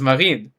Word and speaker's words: Marine: It's a French name. That's why I pronounce it like that, because it's Marine.